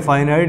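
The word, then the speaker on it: finite: ये जो शब्द की स्पेलिंग आप देख रहे हैं फाइनाइट, इसे पढ़ेंगे यहाँ पर फाइनाइट। अगर सिंगल शब्द है ये शब्द अगर यहाँ पर इसके नॉन के साथ आ गया तो नॉन फिनिट पढ़ा जाएगा।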